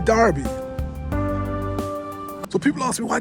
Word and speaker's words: Derby: But when you come to Derby, the people I've been there four years now, they don't say derby. They say Darby.